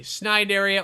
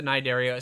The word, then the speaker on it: Cnidaria: talking about those guys the Nara or the snid area or the yeah however you want to pronounce it I pronounce it the nidaria sometimes just Sider all depends on my mood yeah that's it all